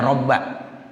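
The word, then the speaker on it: رَبَّ: Ini bacanya robba. Ya, kenapa? Karena ada ya nida yang dibuang. Asalnya begini, Pak. Allahumma ya rabbas samawati. Jadi robba itu jadi munada. Ya, munada mudhof namanya. Robba mudhof, as-samawati mudhof ilaih. Nah, kalau munada mudhof itu hukumnya mansubun, dibaca nasab. Ya, begitu.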